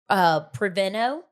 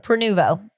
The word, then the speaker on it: Prenuvo: I went and had Preveno. Mm-hmm. I went and had Prenuvo. I always say it wrong. Okay. Prenuvo.